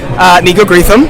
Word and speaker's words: Nico Greetham: Nico Greetham. See, I mispronounced his name during our big interview for Dramarama.